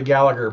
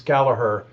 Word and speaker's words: Gallagher: thought it was rory gallagher but if you listen to an irish person say it's gallaher um you know so